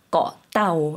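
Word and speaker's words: เกาะเต่า: 따오 거 라는 것은 한국분들이 사실 꼬 라고 많이 알고 계시는데요 그건 영어를 이제 한국어로 바꾸다 보니까 그렇게 발음을 하신 거구요 섬 이라는 것은 태국식 발음이 떠 라고 발음을 해 주셔야 됩니다 나오라는 것은 거북이 라는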